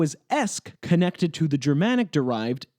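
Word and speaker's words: -esque: Esk means in the style of or resembling. Based on both its pronunciation and its meaning, it's not hard to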